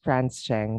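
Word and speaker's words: Francheng: And which one is Franceng and Rans Manuel? Sorry. If I couldn't. Sorry. Franceng. Hey, ma'am. Good morning. It's Morning. pronounced. My name is pronounced as Franz Cheng, ma'am.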